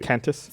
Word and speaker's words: Qantas: There's no U. Cantus. It's Qantas. Cantus.